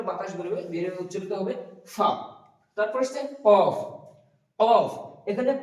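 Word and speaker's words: فاء: তারপর আছে ফা, ফা উচ্চারণ করার সময় আমরা করব ফা, ফা। উপরের যে সামনেকার দাঁত, ওই দাঁত নিচকার ঠোঁটের উপরে লাগিয়ে উচ্চারিত হবে ফা এবং একটা বাতাস বেরোবে মুখ দিয়ে, সিটির মতো নয়, জাস্ট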